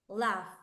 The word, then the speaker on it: laugh: Or for example, laugh, laugh, here, laugh, reírme, laugh, laugh. The pronunciation of this is laugh, laugh, is Laugh. F. The last letter that is written is an H, but the last sound is F, laugh, laugh, laugh.